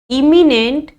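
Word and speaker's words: imminent: 3 words हैं, एमिनेंट, इमिनेंट और इमेनेंट।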